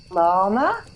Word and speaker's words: Larmour: It's actually pronounced llama, like as in the South American animal. But everyone says Larmour and thinks that it's French, so yeah.